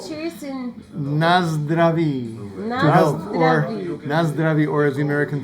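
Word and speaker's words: Na zdraví: How do you say cheers in Nazdraví.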